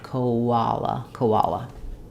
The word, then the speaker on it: koala: end, and between the o and the ah we have vowel to vowel linking with a w sound. Koala.